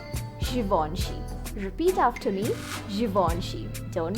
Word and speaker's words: Givenchy: Do you say it as Givenchy? It's Givenchy. Givenchy.